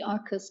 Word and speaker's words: ARQUS: It's actually ARQUS comes from the Latin Arcus with a C, or Arcus, Q-U-U-S, meaning arch, bridge.